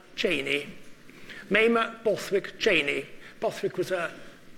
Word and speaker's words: Mamah: Europe in the company with a lady called Mamah Cheney. Mamah Bothwick Cheney. Bothwick was her maiden name and Cheney was her married name. And it's pronounced Mamah, M-A-M-A-H.